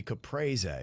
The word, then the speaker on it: Caprese: C A P R E S E would be capra in Italian.